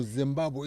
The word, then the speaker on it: Zimbabwe: No, Zimbabwe is it's called the House of Stones by Zimbabwe. That's what it's pronounced.